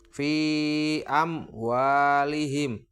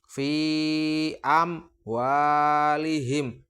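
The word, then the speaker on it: فِي أَمْوَالِهِمْ: Ini ada huruf mem sukun atau mem mati yang bertemu dengan huruf wawu. Cara membacanya adalah seperti ini. Fi amwalihim. Wa. Tidak dibaca karena tidak dengan dengung, tetapi harus dibaca jelas.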